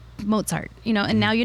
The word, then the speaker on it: Mozart: know it's mozart it's most people say mozart and it's like pizza mozart you know and now